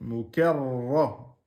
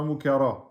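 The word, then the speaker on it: مكرمة: Là, le ra, il est shadda. Donc, mukarra. C'est pas mukara.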